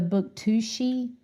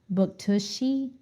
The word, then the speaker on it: Bouctouche: but you pronounce that Buktushi or Buktush Bouctouche. It's probably or Bouctouche. Buktuche. Bouctouche. Yeah, it sounds French.